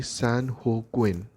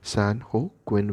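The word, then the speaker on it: San Joaquin: California and it is it is to be pronounced in Spanish so if we talk about the Spanish pronunciation of this word it will be San Hawkwind San Oh Quinn but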